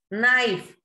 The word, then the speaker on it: knife: Knife, here we don't pronounce K and E, so these are silent letters.